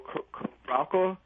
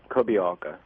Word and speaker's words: Kobialka: So, we I want to play a little bit more from the How do you say say his name? Is Daniel Kobialka? Ko- Kobialka. Kobialka. Uh so, we're going to play that in a second uh a section from from Blue Spirals.